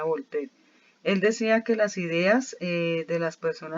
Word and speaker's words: Voltaire: filósofo se llama voltaire se escribe voltaire y se pronuncia volpe él decía que las